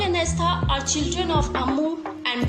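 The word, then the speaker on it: Estha: To pronounce Rahel and Astha, and for spellings is R-A-H-E-L, and Rahel and Astha, E-S-T-H-A.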